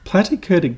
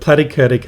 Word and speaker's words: platykurtic: I always thought, I always remembered platykurtic as rhyming with flatty. So I thought platty, flatty.